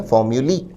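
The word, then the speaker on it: formulae: उच्चारण पर विद्यार्थी ध्यान दें, फॉर्म्यूली।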